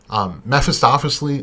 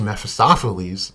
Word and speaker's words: Mephistopheles: name which is one who flees the light mephistophely map is uh he is known to be dark down whose very core however there is a character conflict presented in his lore see mephistopheles oh i said it right that time is